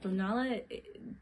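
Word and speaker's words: Tonalá: So, just for folks who don't know, Tonala, technically how you say it, it's actually made in Tonala.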